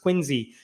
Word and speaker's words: Quincy: You may remember that in the city of Quinsey, Massachusetts, it's spelled like Quincy, but I guess it's pronounced Quinsey.